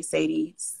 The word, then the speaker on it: Chade: name is chade it's pronounced shot and i say sadie whatever y'all be saying um i help small